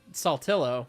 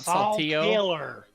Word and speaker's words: Saltillo: to the language barrier how how do we pronounce Saltillo Saltillo right not Sal killer Sal tiller it's Sal but there is a there is a a Mexican way to pronounce it Salo exactly yeah but it's Saltillo one of my coor is